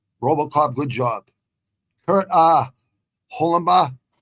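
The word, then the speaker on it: Holobaugh: good job Kurt uh hulenba I think uh they pronounce his name holenbaugh Holland boy uh someone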